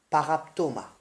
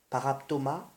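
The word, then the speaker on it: παράπτωμα: L'offense qui se dit en grec paraptoma. Paraptoma, P-A-R-A-P-T-O-M-A, et qui signifie déviation de la vérité ou alors méfait.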